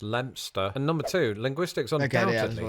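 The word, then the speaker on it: Leicester: two things number one this English town is pronounced lster and number two Linguistics undoubtedly has a word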